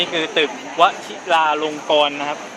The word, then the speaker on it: วชิราลงกรณ์: ครับ นี่ คือ ตึก วชิราลงกรณ์ นะ ครับ อ่าน ว่า กรรณกร ครับ วชิราลงกรณ์ นะ ครับ อ้า ไม่ ได้